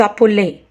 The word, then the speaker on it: appelez: And the endings of nous and vous conjugations, ons and oz, should be pronounced. Nous nous appelons, we call ourselves. Vous vous appelez, you call yourself.